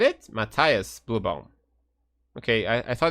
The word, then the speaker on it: Matthias: yeah Matias blue bomb would how do you pronounce his first name in German any Germans in Cheddar Mattias said it Mattias blue bomb okay I thought it was wrong